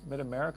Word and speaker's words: Mid America: Is it American or America? Mid America.